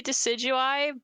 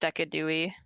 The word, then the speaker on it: Decidueye: I say Decidueye. It is technically Decidueye, but Fig got it in my head that it can also be pronounced Decadui.